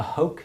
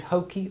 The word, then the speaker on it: Hoke: Smith's little torch, a hoke. Did we find out if it was hokey or hoke? It's hoke. It's It's rhyme with poke.